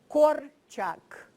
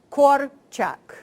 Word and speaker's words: Korczak: Association, that is to practice pronouncing the word Janusz and then Korczak. Because whatever it is pronounced in this hemisphere, it's always wrong. So, so let's try it together. Janusz Korczak. Korczak.